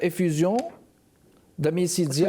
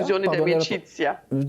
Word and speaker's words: Effusione d'Amicizia: Puis 14 mars, vous allez être Effusion d'Amicizia. Effusione d'Amicizia. Pardon, la prononciation. C'est en italien, là.